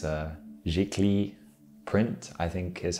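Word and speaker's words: giclée: be produced was uh it's a french word it's a jiggly print i think is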